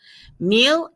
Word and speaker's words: mille: have the word mill remember the last letter of french words is silent so mill meal means thousand that's where we